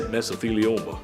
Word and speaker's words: mesothelioma: There it is, mesothelioma.